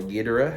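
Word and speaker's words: Ghidorah: Um, this was the film that introduced the world to King Gdora or Geda, however you want to pronounce it. I always pronounced it, Gdora, because that's how everyone pronounces it in the movie and in the pipe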